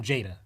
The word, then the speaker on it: JADA: In my research, right, I saw how do you pronounce the acronym? I was saying JADA. It is. Okay.